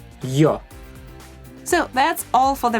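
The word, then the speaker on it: ё: Я, these are 2 sounds y, a, ya, ю, y, u, you, е, y, e, ye. yo. Again 2 sounds y, o, yo.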